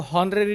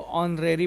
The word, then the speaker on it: honorary: इसको हॉनरेरी नहीं पढ़ेंगे, इसको ऑनरेरी पढ़ेंगे, H साइलेंट हो जाएगा।